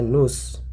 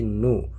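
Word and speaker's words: nous: dia untuk perempuan kemudian nu tidak dibaca news ya tapi nu yang artinya kami atau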